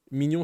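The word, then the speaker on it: Minion: Mignon, ça s'écrit M-I-N-I-O-N.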